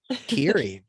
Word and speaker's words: Kery: But it's spelled like Kerry, so it's like a trap.